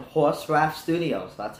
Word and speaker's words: horsraf: really a city it's just me uh called horse rap studio so that's how you pronounce it yeah that's it uh working on